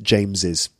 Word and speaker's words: James's: s or just apostrophe they're both pronounced James's okay so actually for